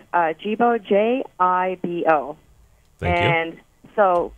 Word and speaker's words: Jibo: Can you spell that for us? It's Jibo, J-I-B-O.